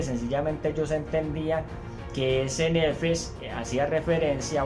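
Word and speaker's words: נפש: Esa palabra ser viviente de este texto en hebreo se dice nefesh, y esa palabra nefesh o nefesh, si de pronto está mal pronunciado, hace referencia a un alma.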